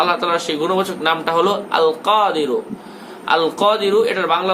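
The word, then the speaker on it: القادر: আল কাদিরু আল কাদিরু এটা বললে হবে না আল কাদিরু কাদিরু গলার মধ্য থেকে আল কাদিরু এটা আপনাকে পাঠ করতে হবে দৈনিক 250 বার দৈনিক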